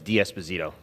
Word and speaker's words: D'Esposito: well thank you Mr Nadler with the correct pronunciation of my last name is diasposito thank you